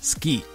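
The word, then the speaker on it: 好き: means like or likable Su usually pronounced as ski tono meaning foodo and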